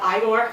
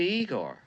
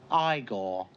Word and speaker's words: Igor: So instead of Igor, we have Igor. You must be Igor. No, it's pronounced Igor.